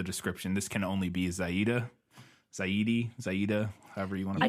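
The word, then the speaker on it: Xayide: totally fine with using the movie I'm gonna go with the pronunciation movie one, since that's the only one we really have. Yeah. But it is Zaida.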